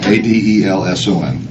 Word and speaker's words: Adelson: It's Adelson. Actually, it's spelled right. I said it wrong. Adelson.